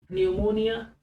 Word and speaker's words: pneumonia: न्यूमोनिया, P silent है, PNEUMONIA, न्यूमोनिया बीमारी का नाम है न्यूमोनिया।